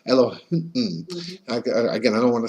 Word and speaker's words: Elohim: Then there's another name of God, Elohim, Elokeinu, and again I'm saying it with a k, but it's pronounced it with a h. Elohim.